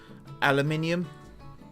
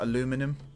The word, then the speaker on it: aluminium: You know, I mean, there's words that we say that mean different things, but aluminium, not aluminum. Again, I would argue that we say it properly, but I don't want to enter that debate right now.